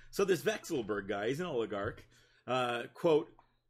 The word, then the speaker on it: Vekselberg: I think that's how you say his name, Vekselberg.